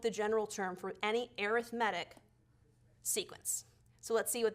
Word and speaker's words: arithmetic: good arithmetic now it looks like the word arithmetic so if you say that that's totally fine I know what you mean but typically we pronounce it arithmetic when we're dealing with sequences okay just so